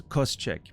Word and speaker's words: Koscheck: Yeah, so my understanding, if it's the same as the MMA fighter, the pronunciation was Koscheck, but I'm not sure if that's actually how you pronounce it.